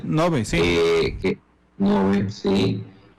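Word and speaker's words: Ngäbe: También está el tema de en el lado de Zixaola, también transfronterizo de los indígenas Nogbe, creo que la pronunciación está bien, Nogbe. Nogbe, sí.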